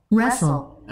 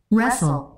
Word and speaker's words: wrestle: wrestle, রেসল, wrestle, রেসল।